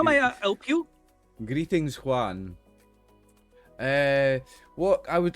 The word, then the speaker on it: John: Chris, how does he pronounce John? Juan. Juan. Okay. Yeah. So it's clearly pronounced. It's clearly written John.